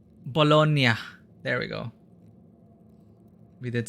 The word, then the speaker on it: Bologna: is a proper pronunciation of Bolognese pasta palona pronunciation bologna there we go we did say it correctly